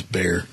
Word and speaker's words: Bexar: How do you spell that county? B-E-X-A-R. It's Bear. Okay. Go ahead. I've heard on the news they call it Behar, so. It's Bear.